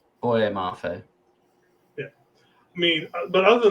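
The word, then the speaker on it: Boye Mafe: Is it Mofe Bafe? Boy, Mafe.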